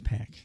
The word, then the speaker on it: PAC: I'm pretty sure it's Pac, too. Pac. Excalibur said Pac, and he pronounces everything correctly.